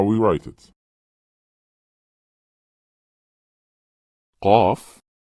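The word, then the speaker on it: ق: Qaf. How to pronounce the letters with short vowels, fatha, kasra, and damma.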